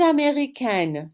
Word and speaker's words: américaine: the masculine form, but you need to answer with the extra E sound, that consonant sound at the end, if you're a girl.